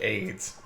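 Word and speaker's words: AYDS: Whoa, apparently that actually was just a brand of cookie pronounced just like AIDS.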